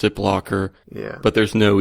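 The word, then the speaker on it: Blockr: a second ago but it's blocker is b c KR I think you pronounce it blocker but there's no e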